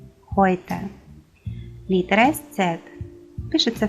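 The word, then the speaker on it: heute: Буквосполучення EU дає нам звук Ой. Ной, Хойте.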